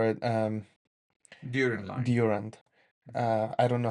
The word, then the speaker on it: Durand: But the recent one goes back to the Abraham line, or we call it During line. Durand. I don't know how to say it in English. Durand, Yes.